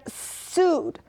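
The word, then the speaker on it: סוד: of the mid rashes and sud which rhymes with wood sud the sud which is the more hidden mystical meaning.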